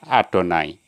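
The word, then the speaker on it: יהוה: Kalau pas nama Tuhan, itu cara membacanya Adonai ya. Yud, Yahweh, Yah, Yud, He, Vav, He, itu dibaca Adonai.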